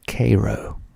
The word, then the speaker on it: Cairo: r o but here in Georgia it is pronounced Koo Koo Georgia next we have Donaldsonville Donaldsonville